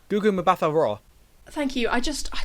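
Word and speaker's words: Gugu Mbatha-Raw: be honest um it's a 2013 film starring gugu ma the raw i'm so sorry i definitely said that wrong what are you doing with your pronunciations over the last few weeks what is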